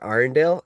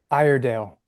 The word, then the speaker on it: Iredale: But the other one I'll say that I really loved was The Wreck of Peter Arendelle. Is that how you say it? Iredale. Iredale. Yeah.